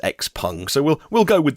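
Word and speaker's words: XPeng: chinese eevee maker called x-pung it looks like it's spelled x-peng but i i hear the people from the company uh pronounce it as x-pung so we'll we'll go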